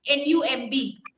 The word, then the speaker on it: numb: Now, my dear ones, when you have this word N-U-M-B, the pronunciation is not numb. B is not audible.